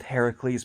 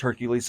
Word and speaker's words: Heracles: On the other hand, the game expands on the 12 labors Hercules, Or in the Greek myth, Heracles, because Hercules is the Roman pronunciation of the name.